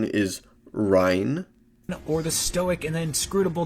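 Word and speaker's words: Reyn: Still, it just feels great to be back with Xenoblade Chronicles' memorable cast of characters, whether it's the lovable meathead Rain, Correct pronunciation is Rhine.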